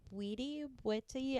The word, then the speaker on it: Bwiti: I believe it's pronounced Witty. I know it's spelled Bwiti, but it is the discipline that those creatures are, I guess, that they originate from.